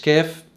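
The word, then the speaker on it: כ: كاف بتلاقي ان الصوت مفخم شوية عن اللغة العربية، مش كاف، كاف كاف. حرف الكاف بينطق وبيكتب بالطريقة دي، هو يساوي حرف الكاف في اللغة العربية. أبجد هوز حطي كلم كاف لام.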